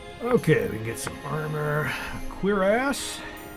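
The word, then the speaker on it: cuirass: armor queer ass still doesn't seem right to say that word but that's the way it's pronounced i noticed on star wars mandalorian or boba fett they called it something else they pronounced in some other way chorus or something i wouldn't even known it but i saw the subtitle actually looked up the pronunciation i'm the one that pronounced it right okay uh let's see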